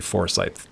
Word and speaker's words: Forsythe: But you do have a very like Matthew Foresight palette. Like one can look at your work and go that's probably Matthew Foresight. Is that correct pronunciation of your last name? It is. Yeah.